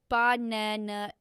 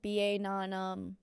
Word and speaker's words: banana: For example, banana, we stress the second syllable, banana. If you stress it wrong, like banana, it sounds strange.